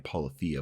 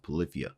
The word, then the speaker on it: Polyphia: At first I was saying Polyphia, but I believe their name is pronounced Polyphia.